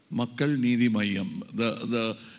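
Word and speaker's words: Makkal Needhi Maiam: Makkal Nidhi Mayam. You don't have to stress the Nidhi as Nidhi.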